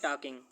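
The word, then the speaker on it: talking: है टॉक तो लि टॉकिंग टी ए एल के आई एन जी ठीक है इसे पढ़ते हैं टॉक टॉकिंग क्योंकि इसमें एल साइलेंट होता है दे विल बी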